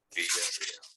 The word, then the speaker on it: Villarreal: Just like that. Villarreal. Roll your R's.